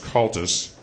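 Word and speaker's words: Comhaltas: not look like I'm pronouncing it but it's pronounced culus and uh they will help you get started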